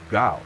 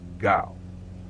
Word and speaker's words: Gau: Gau, like cow, but with a G. Say it slowly. Oh, Gau.